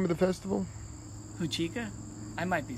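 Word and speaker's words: Huichica: Can you pronounce the name of the festival? Huchica? I might be saying it wrong. Huachica.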